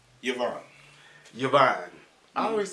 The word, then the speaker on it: Yvonne: Yvonne, I say Yvonne. Yeah. Well, how you pronounce it? Yvonne. No, it's not E. It's I y.